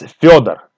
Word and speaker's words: Fyodor: It's Fyodor. Fyodor. Or short version is Fedya. Fedya. So Fyodor and Fedya.